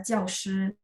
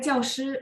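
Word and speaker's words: 教师: Nah, di sini kalau misalnya nanti ketemu kosakata ini, dia harus dibaca nada 4.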